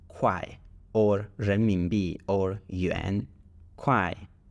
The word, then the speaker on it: 块: So everything that is in blue on the left of the comma is pronounced kuai or renminbi or yuan.